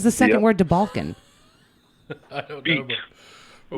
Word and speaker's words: Balkan: Balkan. B-A-L-K-A-N. Balkan. Oh, Balkan. Okay. Balkan with a B.